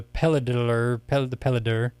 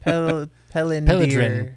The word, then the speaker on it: Pelydryn: It is Pelidrin. Pelidrin. Yeah, Pelidrin. Pelydryn. Pelidrin. Yeah, let's go. It's the Y's that throw you.